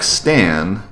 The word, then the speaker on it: Stan: Okay, so your name is pronounced more or less like Stan, just a little bit longer.